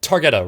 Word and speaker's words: Targeta: no, yeah, it's a Targeta, right? Is that how you pronounce it? Yeah. Right.